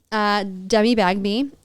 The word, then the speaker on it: Demi Bagby: And there's one girl that I follow, Demi Bagby, and that's how you pronounce her name.